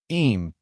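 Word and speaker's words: Eyam: Em Derbyshshire. Em pronounced EM is known as the plague village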